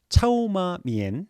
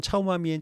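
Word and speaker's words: 炒码面: 부탁드리겠습니다 두 번째 짬뽕입니다 짬뽕은 중국어로 차오마미엔 뭐 이렇게 발음한다고 해요 중국식으로 차오마미엔 차오마미엔에서 짬뽕 이렇게 됐다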